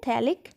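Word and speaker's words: phthalic: PH silent, थैलिक acid, आइसोथैलिक acid, और इसका नाम हो गया आइसोथैलिक एसिड।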